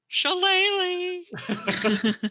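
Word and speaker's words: shillelagh: that staff on the ground uh and cast shalele so the the staff starts glowing uh with a purple phosphorescence you didn't say it right shalele there you go uh and another more Bounder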